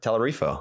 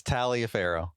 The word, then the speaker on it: Taliaferro: I wasn't going to say anything, but it's Talia Pharaoh.